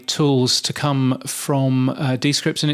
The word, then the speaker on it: Descript: show this this month it's descript uh so so we've been saying it wrong all these years yes um yes they